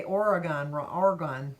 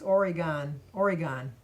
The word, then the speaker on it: Oregon: Speaking of mispronouncing names and stuff, I was told that I say Oregon wrong. It's Oregon, because they put it up phonetically for me.